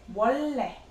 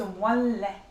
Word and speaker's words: 원래: 원래. You don't pronounce it as 원래. It's 원래. Sounds more like R for N.